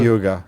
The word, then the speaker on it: Yuga: Am I pronouncing that right? Yuga? Yuga, uh-huh.